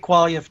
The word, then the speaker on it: Quaglia: You know, our buddy Beppe Quaglia, you say the G is silent. I never know quite how to say it in my good Italian. I've known it for 20 years, and it's always been Beppe Quaglia to me.